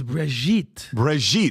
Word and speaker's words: Brigitte: It's Brigitte. It's Brigitte. It's Lebanese. It's got attitude. It has a little bit.